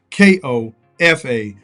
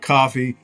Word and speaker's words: Kofa: Once again, I am your humble host, Kofa, K-O-F-A. Not coffee, not kufu, not Kofi, or any variation thereof. Kofa rhymes with sofa.